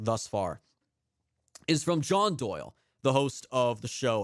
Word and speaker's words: Doyle: far is from John Doyle, the host of the show Heck Off Commie on Twitter at Comrade Doyle, and the Doyle is spelled D-O-Y-I-E, a capital I made to look like an L.